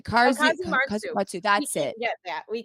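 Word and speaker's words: casu marzu: Now, I'm so sorry that I butchered the name. It's Kazumatsu. Kazumatsu.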